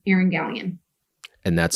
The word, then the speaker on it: Galyean: TikTok, it is my name, Erin Galyean. And that's spelled Galyean. Yes. Gal as in girl. That usually helps.